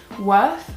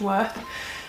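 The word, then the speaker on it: Wearth: apartment store online called worth which is w earth but pronounced worth and they are the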